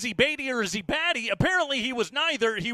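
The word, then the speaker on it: Badie: get him to change the name back to baddy let's give an EXT not even baddy was it bad it's it wasty he was batty I was always like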